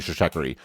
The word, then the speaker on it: Stratechery: And then I quickly realized that was a very bad idea because it is strategy and tech, so it should be Stratechery.